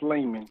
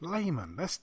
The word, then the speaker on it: Lamon: It's pronounced Layman. Layman. I think it's something to do with the. I think it's something to do with the accent. But it does sound like Lamon though, so it doesn't bother me at all.